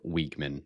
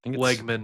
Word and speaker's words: Wegman: I expect them to get after weakman. Is it Weakman or Wegman? How do you say it? Wegman.